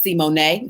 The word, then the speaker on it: Simone: her own mouth, that her name is really pronounced Simone.